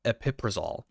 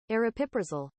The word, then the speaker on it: aripiprazole: Or aripiprazole. If you want the Google pronunciation, here it is. Okay, I got to find it. aripiprazole aripiprazole aripiprazole Yeah, recognize that nice medication and that's where it clicked.